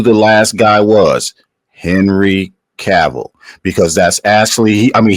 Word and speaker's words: Cavill: tell you who the last guy was Henry caval because that's actually I mean he he uh mispronounced his last name he said cavil but we all know he said Henry cavil